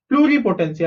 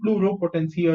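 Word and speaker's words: pluripotency: p o is 10 c y is c pluri potency i said blue row potential earlier right it was wrong okay it is blue potency okay not plural potential potency okay so concept property stem cells was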